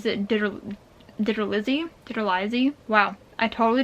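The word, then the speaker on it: DiTerlizzi: my entire life yeah i thought his name was like disrelie or something but his name is digger lizzy digital izzy wow i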